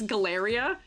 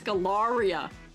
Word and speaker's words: Galaria: I was always pronouncing it as Galleria, but it's Galaria.